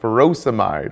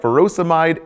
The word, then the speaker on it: furosemide: Potassium wasting ends in ide, like furosemide or hydrochlorothiazide. Both rhyme with dried.